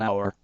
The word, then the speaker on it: hour: We say an hour because the age is silent.